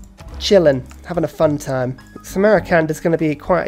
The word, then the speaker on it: Samarkand: Armani, get into Samarkand. I think I'm adding a syllable to that, and it's Samarkand.